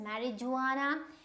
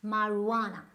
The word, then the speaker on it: marijuana: calling it marijuana, if you go by the words marijuana, it is absolutely wrong. It's marijuana, right? So which means that kind of this part of it is kind of completely omitted when you pronounce it, marijuana.